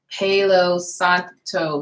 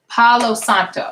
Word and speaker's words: Palo Santo: now what I'm using to it's age and pelos octo sticks and I said it right yeah Palo Santo yeah Palo Santo sticks so I've been burning